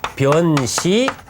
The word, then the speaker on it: 변시: 개성, 변시, 광장설이요. 시내 소리란 말이죠. 시냇물 소리, 폭포 소리든 시냇물 흐르는 소리 묵은 이때는 편이 아니고 변시라고 합니다. 곧, 즉 이럴 때는 이제 변자로 발음하는데 변시, 곧 시냇물 흐르는